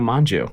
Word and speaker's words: Mongeau: we're here with tana manju mojo how do you how do you say why it's spelt manju well i mean take it up with the french you know like i